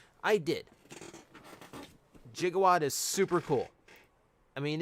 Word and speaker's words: Gigawatt: snom did i get gigawatt yes i did or more correctly pronounced gigawatt because that's how it's pronounced in the movie i did jigawad is super cool i